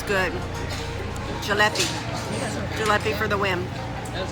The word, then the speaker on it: jalebi: Jalebi.